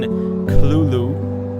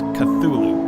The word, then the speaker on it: Cthulhu: Lovecraft himself gave several different pronunciations of the creature's name throughout his life including Cthulhu with a heavy guttural first syllable. The most common pronunciation however is Cthulhu popularized much later after Lovecraft's death.